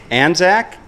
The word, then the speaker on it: Anzac: very Australian how do you how do you pronounce it Anzac a.m.